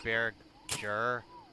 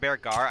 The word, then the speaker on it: Bearger: Isn't Beargar pronounced Bearger? Like the end is some ending as Badger? I don't know. Bearger? I pronounce it Beargar.